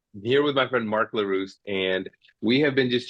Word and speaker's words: Leruste: my great friend Mark larus did I say that right you did you know what even before you hit record I was gonna like I'm just gonna see how he's gonna get along to pronounce my name I remember nailed it you nailed it well done yeah yeah